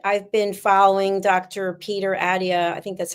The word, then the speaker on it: Attia: Peter Attia.